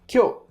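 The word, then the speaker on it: 今日: The pronunciation kyou kyou starts off higher and pitch again. Think of it if it's do re, it would be re kyou kyou. And then it stays low with the particle, which is no in this case kyou no.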